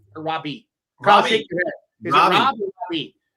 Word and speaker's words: Raabe: Or Robbie? Kyle, shake your head. Is it Rob or Robbie? 2 thumbs up for Raabe. Robbie? It's Robbie. Kyle Robb.